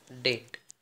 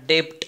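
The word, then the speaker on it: debt: will be in your डेट डेट शब्द आहे ऋणी असणेला डेट याला डेप अस नाही म्हणायचं बी हा सायलेंट आहे याचा प्रन्सिशन आहे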